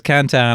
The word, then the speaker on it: Cantan: Instagram cantan I it's actually pronounced Canton but it's easier to remember it as cantan I'm Canan for an